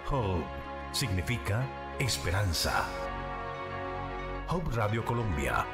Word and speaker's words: Hope: necesariamente el pensamiento de Hub Radio Colombia. Se escribe H-O-P-E, se pronuncia Hub, significa esperanza.